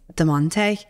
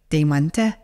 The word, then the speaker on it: Demonte: So it's not actually even Demi, my first name. It's Demonte. Oh. But then in Lithuanian, it's like Demonte.